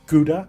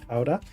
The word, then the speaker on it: Gouda: One of them that's known for a while around the world is Ka, which people pronounce as Gouda, but it's Kha.